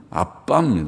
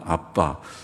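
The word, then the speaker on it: אבא: 아버지라는 날인가 알아 뭐 발음은 아빠 아빠 우리말의 아빠 랑 비슷한데 우리는 아빠는 애기들이 빠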